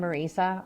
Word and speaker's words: Marissa: I'm always proud to say that it's like Teresa with an M, Marissa. I know it looks like it's spelled like Marissa, but my parents were immigrants to this country. They met here. They're both from the Philippines. And growing up, I was always Marissa, the rolling R.